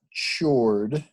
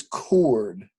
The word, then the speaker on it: chord: that word is not shirred that words chord you pronounce it just like it was Co Rd but it's spelled CH Ord a chord is it